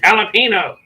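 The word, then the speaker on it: jalapeño: Yeah, again, I should have, because if you say jalapeno or tortilla around Tony, she loses her fucking red-headed mind. It's tortilla. It's jalapeno. I know. Jalapeno does not have an H in it.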